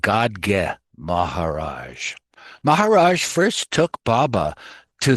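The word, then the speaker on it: Gadge Maharaj: Then Baba set out for the lepers colony along with Gaj Maharaj. I mean, sorry, it's pronounced God Maharaj.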